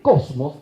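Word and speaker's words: κόσμος: El cosmos, con K, acento en la primera O, significa la unidad universal que armoniza todo lo que existe.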